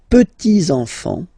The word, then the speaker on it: petits enfants: Okay, so les petits enfants. Make this liaison here. Petits enfants.